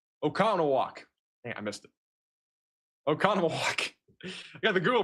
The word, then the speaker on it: Oconomowoc: Middle, right is kind of the general area that we're looking at right now for a tornado here near Oconomowoc.